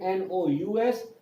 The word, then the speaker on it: nous: It is written N-O-U-S, but the S, the last consonant sound is not pronounced. Remember, in French, the last consonant sound is not pronounced. So it is nous.